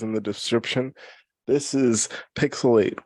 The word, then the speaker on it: PixelHate: the description this is pixelate where the H is silent but the hate is oh so real I'm here with my